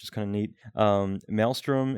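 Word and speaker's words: Mailstrom: kind of neat um melstrom is another one that's actually like spelled like email so Maelstrom m a i l s r o m and um melstrom is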